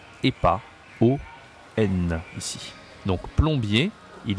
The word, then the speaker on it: plombier: de Nintendo, ça s'écrit plombier, d'accord? Son métier, son job, sa profession, c'est plombier. Du coup, on dit Mario le plombier. Plombier, d'accord? Je n'écris pas ON ici, j'écris OM.